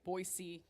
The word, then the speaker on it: Boise: We're doing all the You can tell we've traveled because we pronounce the city names correctly. Boisey.